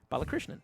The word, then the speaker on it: Balakrishnan: and then I just sort of sounded it out phonetically and I'm like oh that totally makes sense Bala Krishnan yes right there